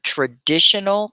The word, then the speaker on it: traditional: That's kind of hard, that Tion. Shun.